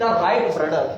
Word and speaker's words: Wright: को बोलते हैं द राइट ब्रदर्स। तो यहाँ पे राइट जो है ना वो डब्ल्यू से स्टार्ट हो रहा है, डब्ल्यू साइलेंट हो गया है।